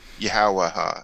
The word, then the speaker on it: Yahawashi: I just went on about pronunciation, and I went back to I reverted back. Yahawashi, excuse me.